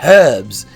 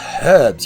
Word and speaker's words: herbs: The very first thing she does does is criticize my pronunciation and says, "It's herbs. There's an H in it. It's herbs.